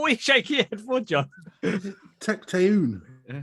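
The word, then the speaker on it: Tecteun: shake it for john tecton is that difficult for everybody it is three syllables i had to write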